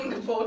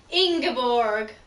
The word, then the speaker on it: Ingeborg: Ingeborg, that's how you say it. Ingeborg.